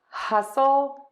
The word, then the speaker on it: hustle: let's try those words hustle hustle hustle hassle hassle Hassle and yes the T in hassle or hustle rather is silent all right so for